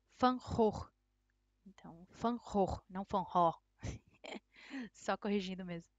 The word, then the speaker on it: Van Gogh: pintor Holandês Van Gogh no Holandês né seria fancó o que um tempinho estudando não faz com a gente né eu já sei que a pronúncia não é assim seria mais fã horror Só corrigindo mesmo e